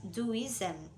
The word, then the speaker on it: Taoism: Taoism, pronounced Duism and sometimes spelled Taoism, is a Chinese philosophical,